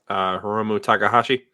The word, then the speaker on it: Hiromu Takahashi: Hiromu Takahashi.